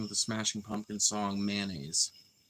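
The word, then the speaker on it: Mayonaise: the Smashing pump song mayonnaise which I think is actually supposed to be pronounced my own eyes um but uh I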